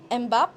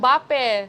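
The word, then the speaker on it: Mbappé: Ronaldo or Mbap. Is that how you pronounce? Mbappe.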